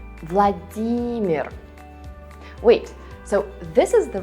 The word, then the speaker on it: Владимир: So again, remember that in Russian, you read this name with a stress on the second syllable. Vladimir.